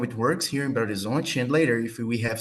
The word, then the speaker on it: Belo Horizonte: It's pronounced Belo Horizonte.